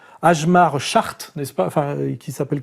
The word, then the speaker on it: Schacht: monsieur qu'on prononce agemar chart n'est-ce pas enfin qui s'appelle comme ça mais ça se prononce chart oui agemar chart nous